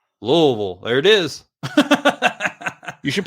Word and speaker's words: Louisville: we have we have a place that's spelled just like that but up here they call it Louisville there's uh there's one